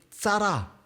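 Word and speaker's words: צרה: 아픔 궁핍 이런 단어인데 히브리어 발음으로는 짜라 짜라 짜라 쌍 지옷 비슷하죠 근데 이제 히브리 발음은 조금 다른데 자라라는 발음인데 이 발음의이 단어의 의미는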